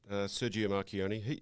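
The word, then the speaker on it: Marchionne: Is that the best way to pronounce it? Yeah, that's right. Sergio Marchioni.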